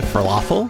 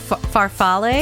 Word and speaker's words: farfalle: Falafel? Oh, farfalle?